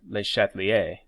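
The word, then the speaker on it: Le Chatelier: principal spelled Chatelier x' pronounced bleh chatelier's because it's French the chatelier's principle states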